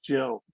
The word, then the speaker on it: Jill: But then you find out that actually Gil has a soft G. Her name is Jill.